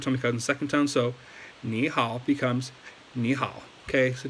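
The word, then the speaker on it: 你好: But if you were to say ni hao, like third tone, you didn't do the tone changing rule, like, they would understand you, like, no problem. But just know that, like, that's how you're supposed to pronounce it.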